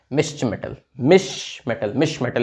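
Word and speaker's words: Mischmetal: मिश्र मेटल इसको हम pronounce करते हैं, ठीक है।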